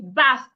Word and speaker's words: bath: So this sound here, this is the voiceless th. Put your tongue in between your teeth. Blow air. So if I want to pronounce this word, I should say bath. Bath. If my tongue is not outside, excuse me. If my tongue is not outside, then I am not pronouncing the word correctly.